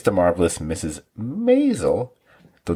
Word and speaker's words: Maisel: dramatic moments who knows it's The Marvelous Mrs maisel the name I love to mispronounce did I get it right this time